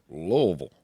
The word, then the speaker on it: Louisville: in louisville lewisville no i'm pretty sure they pronounce it louisville louisville yeah i heard you i heard you're supposed to pronounce it like you have a mouthful spit louisville hey